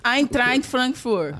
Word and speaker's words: Eintracht Frankfurt: Eintracht Frankfurt.